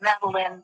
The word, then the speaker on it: Maline: Is it Meline or Maline? Matt, it doesn't matter. But Maline is how I was there.